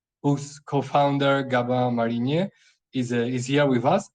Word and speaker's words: Gabin: good yeah it's perfect it's a French name so it might not always be easy to pronounce but yeah it's good that's good yeah to be honest I checked the pronunciation out before starting that's why I got it right otherwise maybe I would have said that gabin but anyway uh well